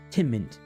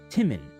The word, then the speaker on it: Timon: From the corner of the room, her father, Timint, Excuse me, I said his name wrong. From the corner of the room, her father, Timon, stirred.